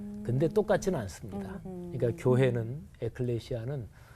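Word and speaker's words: ἐκκλησία: 헬라어로 발음해 보면 바실레이아 이렇게 발음해요. 그리고 교회는 에클레시아.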